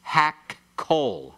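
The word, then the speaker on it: הַקּוֹל: So kol becomes hak-kol. Hak-kol. All right? When you pronounce it very swiftly, you can hardly hear the 2 kofs put in there.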